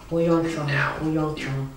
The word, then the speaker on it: HoYeon Jung: HoYeon Jung.